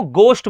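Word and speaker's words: ghost: यहां पर भी जी एच का कॉम्बिनेशन बन रहा है या आपने कहा सर यहां पर जो है एच साइलेंट है। इसको घोस्ट बोलते हैं।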